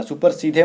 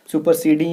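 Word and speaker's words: supersede: अब इसके प्रोनाउंसिएशन को मत बिगाड़ना, सुपर सीधे मत बोलना, सुपर सीडिंग है ये, ठीक है।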